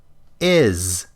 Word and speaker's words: is: is ends with a z even though it's spelled with an s of of not off.